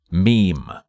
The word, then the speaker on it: ME-EM: Boy Horror-like device called the ME-EM, pronounced meme.